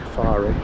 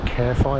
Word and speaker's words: Caerfai: those wrong again to what I used to call the kafari it's actually pronounced carefy I think and then back through